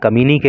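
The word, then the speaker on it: communiqué: NIMA कम्युनिके। देखिए, इसका जो प्रोनाउंसिएशन होता है कम्युनिके होता है, और इसका हिंदी अर्थ होता है विज्ञप्ति या सरकारी सूचना।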